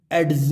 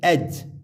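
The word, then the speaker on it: edge: यहाँ हम इसको एड्स नहीं पढ़ेंगे ना प्लेड्स पढ़ेंगे, यहाँ पढ़ेंगे एज, डी साइलेंट, एज।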